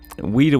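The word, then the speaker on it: Ouida: it inside of it it's spelled o-u-i-d-a um weeda was the name of an english novelist and peters was an avid reader of weeda and this may have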